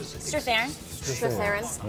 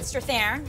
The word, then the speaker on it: Strathairn: Strathairn. David Strathairn.